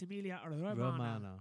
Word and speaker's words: Emilia Romagna: Yeah, I was pronouncing Emilia Romagna, but it's Emilia Romagna. Yeah, a bit like Romana from Doctor Who, so it's easy for For me all to Doctor say.